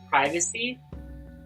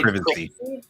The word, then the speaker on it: privacy: I have a huge problem with privacy. Is pronounced in British English. English is privacy.